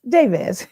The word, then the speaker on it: Jabez: Did I say it right or Jabaz? Jabez. Okay. Jabaz. Like Jabez prayer.